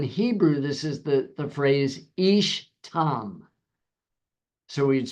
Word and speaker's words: ish tam: Now in Hebrew, this is the phrase ish tam. So we'd spell it I-S-H for your notes, T-A-M, ish tam.